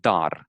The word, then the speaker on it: dar: a present in Romanian is dar, like dar in English, Dar. dar, and you just say it, dar, very sort of pronounced strongly, d, dar.